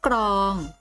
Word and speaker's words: กรอง: พาน และ ตัว เรือ ออก เสียง พร้อม กัน นะ คำ นี้ จึง อ่าน ว่า พริก ส่วน คำ ว่า กรอง ออก เสียง ก ไก่ และ ลอ ลิง พร้อม ๆ กัน เก่ง มาก คะ ลูก